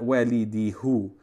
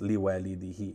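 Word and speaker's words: لِوَالِدِهِ: on it, but it's preceded by a kasra or a ya, then it takes a kasra at the end. So it's li walidihi.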